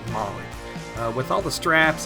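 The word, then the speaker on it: MOLLE: m o l l e but it is pronounced mly uh with all the straps it allows people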